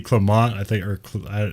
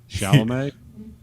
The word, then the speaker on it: Chalamet: I do think Timothy Clement, Clement, I always say his name. I think he's better. Chalamet.